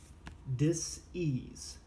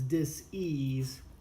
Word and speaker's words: dis-ease: I wrote it and I pronounce it as dis-ease and not disease, which is spelled the same.